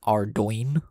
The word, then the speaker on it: Ardougne: um uh paladins in Ardougne, which is apparently how you pronounce the name of that place. There's a G in there, would you believe it?